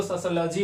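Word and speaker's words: sociology: हुआ है ठीक है तो इसको सोशियोलॉजी पढ़ा जाएगा बहुत से बच्चे इसको सोशियोलॉजी भी पढ़ते हैं सही है दोनों फिलहाल कोई दिक्कत नहीं फिर उसके बाद में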